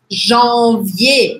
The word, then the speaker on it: janvier: O primeiro mês, janvier. Batata quente. Janvier. Janvier, janvier. Olha só, gente, escreve com um R no final, mas eu não pronuncio. Janvier, janvier. Próximo, février.